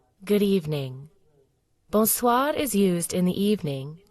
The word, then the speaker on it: Bonsoir: The R is a bit softer than in English.